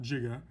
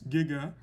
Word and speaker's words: giga: the prefix capital g is giga and it is pronounced giga not jiga it's giga and is one times